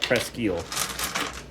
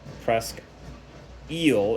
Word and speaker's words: Presque Isle: that uh press gu so sorry I want me to call it presel it's spelled the same in Roger City they have a Presque eel in Roger City it's spelled the same and then in Marquette it's Presque Isle so oh there was